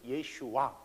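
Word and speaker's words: ישוע: 영어로는 아 예 그 우리가 부르는 예수라는 단어가 히브리 말로는 예슈아 헬라어로는 예수스 라틴어로 예수스 영어로도 한동안 17세기 까서는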